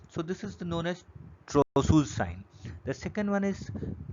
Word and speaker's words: Trousseau: It can be unmasked by the following test, that is Trogius sign and the Kostek sign. The Trogius sign is Trousseau's sign, is basically pronounced as is a Trousseau's sign.